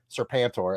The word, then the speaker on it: Serpentor: If you like Serpentor, as it's pronounced, I'm quite certain, you'll like this cover.